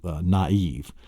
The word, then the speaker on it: naive: pronouncing them together like naive. N-A-I-V-E. Then N-A, you'll separate it and put the diaeresis over the A, so you know you don't put the A and the I are not pronounced together.